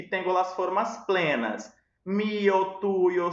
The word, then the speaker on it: tuyo: Lembrando que esse Y aqui, a depender da variação linguística, no ano, eu posso pronunciar ele como se fosse um J. Eu posso falar tujo, sujo, ok?